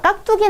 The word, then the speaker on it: 깍두기: 발음상 깍두기라고 된 소리로 발음은 되긴 하지만 그거는 우리 경음아 그드브 뒤에 끄뜨뿌스츠가 오는 경우 된소리 되기 발음상의 이야기이기 때문에 음운 변동을 반영하지 않은 채 쓸 때는 깍두기라고 쓰는 게 정확하겠죠.